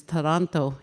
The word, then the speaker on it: Toronto: yesterday, he said the the real word or how you pronounce Toronto is Toronto, he said.